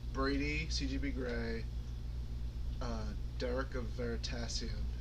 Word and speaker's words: Veritasium: It's like Brady, CGB Grey, Derek of Veritasium, who they always on Hello Internet pronounce his name wrong on purpose. They say Dirk from Veristablium.